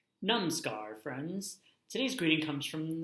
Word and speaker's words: Namaskar: Namaskar friends today's greeting comes from the land of India it is pronounced pronounced nam scar mama scar it means